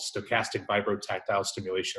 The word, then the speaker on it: stochastic vibrotactile stimulation: got it yeah yeah so the word is stochastic vibrotactile stimulation or SVS it was developed at Harvard University